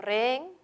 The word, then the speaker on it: rehén: correctamente tildadas re bueno rehén es una palabra que es hay un gato la h no cuenta entonces hay dos sílabas hay un gato hay dos sílabas re y al haber dos sílabas puedo decir que esa aguda la aguda que terminen